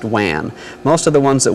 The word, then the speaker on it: WAN: dedicated telephone lines that's referred to as Wan or pronounced Wan most of the ones